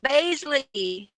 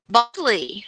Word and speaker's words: Baisley: New and Baisley. Bosley. I'm sorry, I had your name wrong.